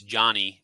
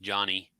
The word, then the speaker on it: Jonnie: She says it's Johnny. Pronounce it Johnny.